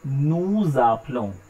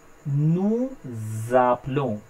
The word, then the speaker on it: nous appelons: The point is, whenever in a word, if it ends with a consonant, here S is a consonant, and the next word it starts with a vowel, here A is a vowel, so both words will be pronounced together. So instead of saying nous appelons, because last letter of French is always silent, I am saying nous appelons, nous appelons, so it will be pronounced together. Vous appelez, pronounced together.